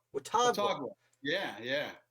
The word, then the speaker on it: Watauga: I believe it's the Treaty of Wantaga. Is that how you pronounce it? Watauga. Watauga.